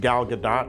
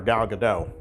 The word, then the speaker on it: Gadot: person that knows that Gal Gadot's name is pronounced Gal Gadot, and yet for some strange reason I still call her Gal Gadot.